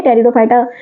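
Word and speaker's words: Pteridophyta: टेरिडोफाइटा की pronunciation T से शुरू होती है। लेकिन पी जो है यहां साइलेंट है।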